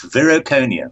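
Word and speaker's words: Viroconium: And I think that's probably where we should really get rolling with it is I believe, I hope I pronounce it right, Vericonium? That is correct, Vericonium.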